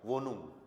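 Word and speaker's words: Wohnung: O के लिए ओ, H silent, right, H silent. N के लिए न, एंड UNG के लिए उंग। ओ की मात्रा लगी, न ऊपर आ गया और गे लग गया, वोनुंग, ठीक है।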